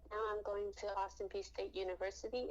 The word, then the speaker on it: Austin Peay: It's a small D1 school, and what's the pronunciation again? Austin Peay. Oh, my name? No, no, your school, Austin Peace University. Yeah, Austin Peay State University.